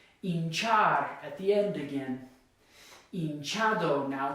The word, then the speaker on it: hinchado: at the end again, hinchado, now it's the second to last. Notice it's not hinchado like it is hinchar, it's hinchado, okay?